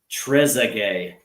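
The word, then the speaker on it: Trézéguet: He says it's pronounced Trezay. There you go. By Trezay.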